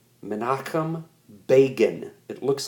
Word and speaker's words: Begin: It is negotiated at Camp David between the Israeli Prime Minister, okay, a man named Menachem Begin. Menachem Begin. It looks like begin, but it's pronounced Begin.